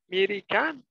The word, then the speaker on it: mereka: The first letter E is pronounced a, like in the word after. But the second letter E is pronounced a, like in the word say.